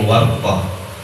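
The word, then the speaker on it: ورطة: Qultu, aku katakan, kata Imam Nawawi, al-warqatu bi fathil wawi wa iskanir ra. Bacanya warqah.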